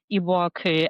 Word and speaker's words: EWoK: Am I pronouncing that right? Yes. Yeah, EWoK, Elements of World Knowledge.